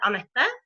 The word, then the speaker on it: Ana: about yourself yeah so my name is pronounced Ana in norian and um I don't